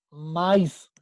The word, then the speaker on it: maíz: Si no separábamos la palabra, no diría maíz, diría maíz, y no es correcto. Nosotros decimos maíz en 2 sílabas.